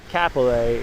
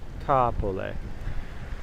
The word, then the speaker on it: Kapolei: just west of kapolei not kapolei it's ka like uh like ah aspire kapolei i've been working on